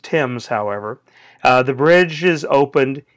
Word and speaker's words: Thames: River the River Thames we would say the River Thames it's pronounced Tim's however the bridge is